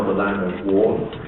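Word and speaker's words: 倭: They call it the land of war. This character here, which is then pronounced wa in Japanese.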